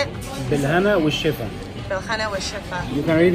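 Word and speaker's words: بالهنا والشفا: Bilhana Ushifa.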